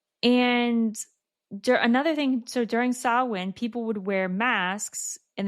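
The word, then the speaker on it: Samhain: coincided with a Celtic festival called Sawin. Sawin is spelled S A M H A I N.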